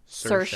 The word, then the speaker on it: Saoirse: It's Saoirse. Saoirse. Like inertia.